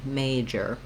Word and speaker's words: major: you're holding that may nice and long may major this is our main difference between the words